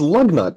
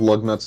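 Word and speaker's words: Lugnut: you now I'm so you know how the first syllable of lug nut's name kind of sounds like the word love Yeah were you going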